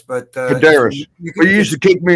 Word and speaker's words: Korderas: Yeah, I mean, like it's tough because it's a Greek last name and it doesn't sound very Greek.